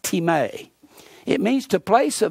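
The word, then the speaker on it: τιμή: greek is the word t-i-m-e it looks like time is pronounced team a it means to place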